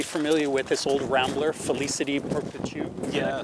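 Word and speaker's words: Félicité Perpétue: Jason, you'll be familiar with this old rambler, Felicity Perpetu. Did I pronounce that right?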